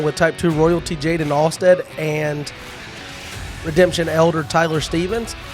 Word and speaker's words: Alst: with type two players Tyler Stevens and Jaden alad did I say it right you did yeah